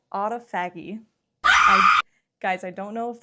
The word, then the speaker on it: autophagy: Things like your cells go into repair mode, which is called autophagy. Guys, I don't know if that's how you pronounce it. Autophagy just sounds wrong. Pronounce autophagy.